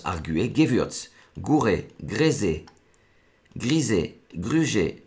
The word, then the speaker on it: arguer: Donc ça se prononce arguer.